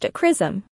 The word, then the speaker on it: XRISM: The X-ray Imaging and Spectroscopy Mission, XRISM, pronounced XRISM, will analyze X-rays using the widest field of view instrument ever implemented in this kind of imaging probe.